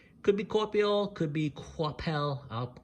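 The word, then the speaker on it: Coipel: of people call him coel because it's spelled c o i p but I believe it's French and the French pronunciation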